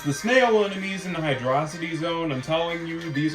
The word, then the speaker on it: Hydrocity: Yes, it's pronounced Hydrocity, I don't care what anybody says. It's pronounced Hydrocity, that is the correct pronunciation.